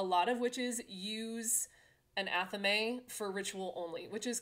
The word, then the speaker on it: athame: go on to an athame. Don't let anyone tell you that it is pronounced another way. If you say athame, it's a weird. It's athame, and it is a ritual dagger.